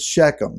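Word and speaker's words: Shechem: buried in shakim now we most of the time will pronounce shakim as shakum it's the modern day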